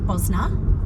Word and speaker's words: Bosna: The locals actually pronounce it Bosna. They don't pronounce the I, so since we're locals, we should start calling it that.